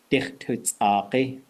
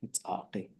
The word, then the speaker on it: x̱ʼaduwóosʼ: ʼaduwóosʼ. Backbone. Inside back. Spine is really what it is. That's how you say it. ʼaduwóosʼ.